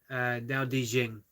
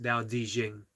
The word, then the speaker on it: Tao Te Ching: I hear he pronounced it Dao. Yep. So never recognized what it meant. Yeah, the traditional Chinese, the D, Dao Di Jing. So it's Toateteching. Let's see. And pronounced Dao Di Jing.